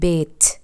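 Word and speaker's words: بيت: আমি আবার বলে দিচ্ছি, ডিমকে বলা হয় বেদ আর ঘরকে বলা হয় বেত, বেত। এই দুটো শব্দ উল্টাপাল্টা করিয়েন না।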